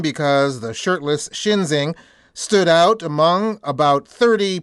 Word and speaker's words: Schinzing: We should note that Shinzing is not exactly a common name. It's spelled Schinzing. I bring up his name because the shirtless Shinzing stood out among about